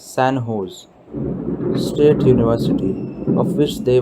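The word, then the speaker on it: San José: in the u.s recently sanjo's pronounced as sanho's state university of which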